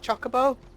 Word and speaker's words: Chocobo: Not Chocobo. I think they pronounce it Chocobo in this game because they are going for an anglicised pronunciation because everyone's like medieval British. Everyone's from like Swansea. I think that's why they're doing it.